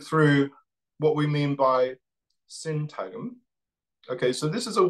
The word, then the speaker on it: syntagm: Okay, so moving forward then to think through what we mean by syntagm. Okay, so this is a word that's spelled S-Y-N-T-A-G-M, syntagm, which comes from semiotics.